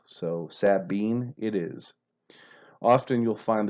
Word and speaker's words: Sabine: always called it the sabine equal emphasis on both syllables so sabine it is often you'll